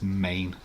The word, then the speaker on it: Maine: It is Maine. It's the only one with 1 syllable.